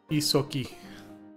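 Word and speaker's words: Ysoki: How do you pronounce that, Mark? Isoki.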